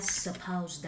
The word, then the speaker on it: suppose: giả định rằng I suppose that. Suppose. O's. Và âm Z ở phía sau nha. Âm Z nha mấy bạn, chứ không phải âm S. Viết là S nhưng mà đọc là Z.